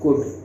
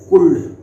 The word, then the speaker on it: could: क्या पढ़ते हैं कैन, इसको क्या पढ़ते हैं कुड, क्या पढ़ते हैं कुड, ना कि कुल्ड। कुल्ड नहीं करना है। अक्सर कई लोग इसको क्या पढ़ देते हैं, एल साइलेंट होता है उसमें, कुड डायरेक्ट पढ़ा जाता है। कई लोग पढ़ देते हैं कुल्ड, मतलब कुल्ला वो का आ रहा हो, तो कुड पढ़ेंगे इसको।